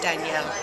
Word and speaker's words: Daniel: And at the beginning of the novel, Daniel, the main character, Daniel, but it's pronounced Daniel in Spanish, witnesses soldiers breaking into his family's apartment and arresting his father.